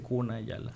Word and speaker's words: Kuna Yala: Bueno, el cuna dice kunay yala con K, o sea, que no está mal que yo diga la comarca Kunayala.